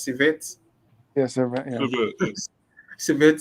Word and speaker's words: Servette: Fortunate enough to win against is it Civet or how is it pronounced? Civet. Yeah, Servette, yeah.